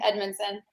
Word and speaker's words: Edmondson: neal and you didn't you did say it correctly edmondson somebody did the research joking